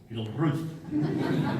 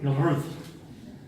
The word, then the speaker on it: Gilruth: The proper way, the name to say, Gilruth. Emphasis on the second syllable. Gilruth.